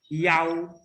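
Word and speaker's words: 幺: kita ganti dengan kata yau. Ya, kita bacanya yau. Ya, jadi dalam penyebutan nomor telepon, ya, kalau ada angka i kita sebutnya yau, ya, bukan i.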